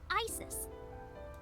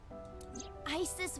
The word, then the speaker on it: Isis: horse's mom is named isis but in ancient egyptian it's pronounced closer to isa or asa hmm how do i